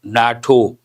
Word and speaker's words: NATO: And here I have pronounced it as a word, NATO.